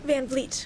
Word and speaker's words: van Vliet: And the next speaker is van Vliet. Do I pronounce that right? Van Vliet.